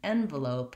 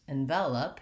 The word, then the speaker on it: envelope: But the most important thing is that in envelope, you want to stress that first syllable and go light and short on the second two, versus envelope, you have second syllable stress and light and short on the first and third syllables.